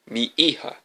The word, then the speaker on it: mija: What's mija? Mi hija, he pronounced it slowly.